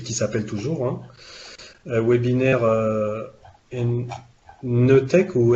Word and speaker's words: NETEC: Webinaire Netec ou Ntec, je sais jamais comment on prononce. Netec.